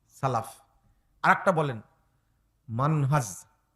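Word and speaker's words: منهج: আর একটা বলেন মানহাজ। মানহাজ শেষে হলো কি? বর্গীয় জ, বর্গীয় জ। মান আজ, মাযহাব না কিন্তু।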